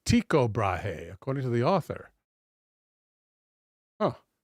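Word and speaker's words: Tycho Brahe: Tao Brahea is the one that had the uh the uh prosthetic nose, right? Just writing in my notes. It is pronounced bra. Oh, it's tiko brahe according to the author.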